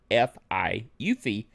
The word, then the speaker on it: UEFI: It adds Eufy, Okay? UEFI. UFI is the way we pronounce it.